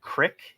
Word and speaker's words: creek: further and growing up my mom pronounced Creek like Crick as she grew up in Philadelphia and she had that little bit of a twang accent and it would always come out Crick and like water so